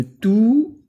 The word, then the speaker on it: tous: un au masculin pluriel le s de tous se prononcent exemple les volontaires en